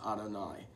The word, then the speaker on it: Adonai: It's frequently pronounced as Adonai.